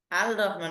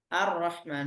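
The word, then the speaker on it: الرحمن: আর রহমান আমরা পড়ি না, আর রহমান, এখানে আল রহমান বলি না, আর রহমান বলি, ঠিক আছে?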